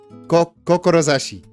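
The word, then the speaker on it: 志: Confirming the ambition / will kanji might also be kindness or gift, pronounced kokorozashi. It says kokorozashi. My Japanese is terrible.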